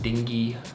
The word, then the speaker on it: dengue: they think it was I think it's pronounced dingy fever uh and I had